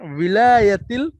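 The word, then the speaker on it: الولايات: আপনাকে, ভিলায়াতিল মুত্তাহিদাতি, বি হ্যাঁ ওয়াওয়ের নিচে যদি জের হয় সেটা কিছুটা ভিলা, ভয়ের মতো উচ্চারণ হয়, হ্যাঁ ভিলায়াতিল ভিলায়াতিল মুত্তাহিদাতি, মুত্তাহিদ, বিলায়াতিল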